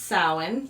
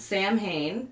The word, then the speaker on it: Samhain: So, it is pronounced sin, not Sam Hayne, despite what the Winchester brothers taught us.